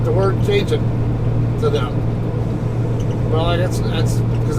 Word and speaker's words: Cajon: They all had a tendency to call the mountain pass that's right by my house the Cajun Pass. That's another one. I laugh every time, but Cajun? You mean Cajon?